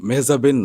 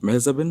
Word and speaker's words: মেহজাবিন: দর্শকরা শুনে কিন্তু এখন অবাক হবে যে মেহজাবিনের নাম মেহজাবিন না, তাহলে কি? ওয়েল লাইক সবাই তো মেহজাবিন বলে, তো এটার উচ্চারণটা আসলে একদমই অন্যরকম। ইটস মেহজাবি। মেহজাবি? হ্যাঁ, এন বা ন, আচ্ছা, এটা কিন্তু সাইলেন্ট।